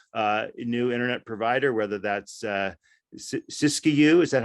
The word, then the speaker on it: Siskiyou: where an entrepreneurial new internet provider, whether that's Siskiyou, is that how you say it, Russ?